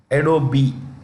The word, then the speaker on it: Adobe: The E is pronounced Adobe.